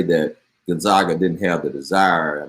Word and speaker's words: Gonzaga: something on gonzaga and we decided last week that we were pronouncing gonzaga as opposed to gonzaga because their nickname is the zags and so since we're gonna call them the zags then we're gonna call the school gonzaga but baylor really put